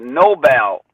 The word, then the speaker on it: Noble: And they also do some work with what they call you would see it written as noble women, but they pronounce it Nobel women, mm-hmm.